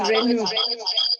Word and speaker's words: Renu: It's not Ranu, it's Renu.